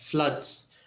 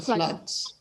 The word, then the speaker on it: flood: about the floats yes floods have you heard about the floods and the pronunciation is is like blood blood flood is it them flood blood it's the same pronunciation flood and blood correct number nine it